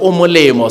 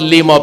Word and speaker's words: Lemo: Again, because it's Lemo, so it's not Limo but Lemo, because it's from Lemo.